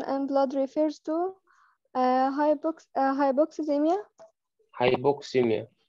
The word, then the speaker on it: hypoxemia: هايبوكسيميا هي هايبوكسيميا، بتتنطق عشان نضمها مع بعض تبقى هايبوكسيميا، بس هي مقاومة من 3 أجزاء، هايبو بوكس ويميا.